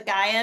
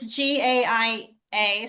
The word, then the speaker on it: Gaia: ever heard of the guia network spell that it's g a i a so Gaia as in oh Gaia okay mother